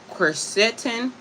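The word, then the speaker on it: quercetin: Um it also contains uh phenolic phenolic phenolic acid uh casetin qu u e r c e t i n and lutein luteinolin l u t e o l i n.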